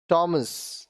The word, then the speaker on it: Thomas: अब देखिए यहां पे एच साइलेंट होंगे। ऑनर, इज्जत, ऑनर, इज्जत। आवर, घंटा, आवर, घंटा। टॉमस, टॉमस नाम है, टॉमस।